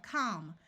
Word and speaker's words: calm: the L is silent in this column I have words ending in Al l m the a will have its broad sound of a and the L will be silent here we have calm we can add a